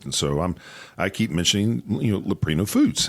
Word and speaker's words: Leprino: And so I keep mentioning Leprino Foods, and I say it correctly, but she can't. She's Laprina and Prino, and she just can't get it.